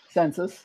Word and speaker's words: census: Census, yep, just pronunciation. Yeah, census is pronounced that way? Census. The U is a little bit more open. Census. It's like it's an A, not a U.